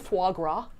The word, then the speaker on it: foie gras: Are you thinking of foie gras? Foie gras. I think that's the official French pronunciation.